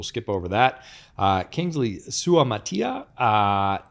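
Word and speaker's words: Suamataia: over that uh Kingsley sua Matia uh that's UA Mata there we go there we go missed a syllable there offensive tackle out of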